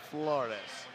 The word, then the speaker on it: Flores: Now, can you roll your R's like Chad did? Flores.